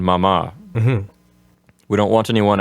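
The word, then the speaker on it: mamá: And we want to remind our listeners that the accent's on the last syllable of papa and mama.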